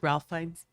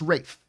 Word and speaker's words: Ralph: that's ray fines is ralph fans it's pronounced rafe oh race yes i know it's it's spelt ralph it's totally spelled ralph but it's actually called ray no wraith and